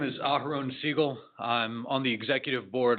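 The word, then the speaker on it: Segal: And my last name is Seagull, which is spelled S E G A L.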